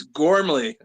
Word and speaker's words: Gormley: I struggled to pronounce his last name, but Thomas Patrick Gormley, I believe it is. He can punch me in the face if that's wrong. You're close, Len. It's Gormley.